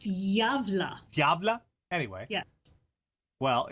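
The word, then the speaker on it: Gävle: So, as you may be aware, the Gabble Goat is a holiday tradition in Gavla, Sweden. YouTube says it's pronounced Javla.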